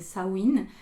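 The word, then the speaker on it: Samhain: je suis désolé mais Sam ha que vous pouvez aussi prononcer sawin c'est pas le 31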